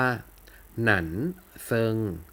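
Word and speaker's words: 男生: ว่า ผู้ ชาย นะ อ่าน ว่า นั่น เซิง นั้น เซิง เตือน ฉัน เซิง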